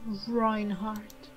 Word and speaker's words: Reinhardt: My name is Reinhardt. Reinhardt, I'm sorry. I said I would pronounce these names German, so I will do that.